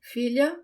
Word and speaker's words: filha: The sound of the LH, it's not the tip of my tongue that touches the roof of my mouth. It's sort of the middle of my tongue. It's almost if I have ly in English instead of lh in Portuguese, but it's subtle.